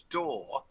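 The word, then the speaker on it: dor: that kept coming up d.o.r which we all pronounce as door but mockery no sorry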